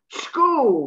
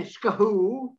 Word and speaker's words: school: School, well, they must be using this all the time. They don't say skahoo, school. Forget the H again. School, that's what it is.